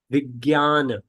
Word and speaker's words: Vijnana: Vijnana. It's so J. So it says Vij. J is pronounced as Gya, not Ja, Gya.